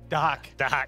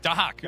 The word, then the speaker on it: Dahak: Dahak. Dahak. Right. You don't pronounce the X, right?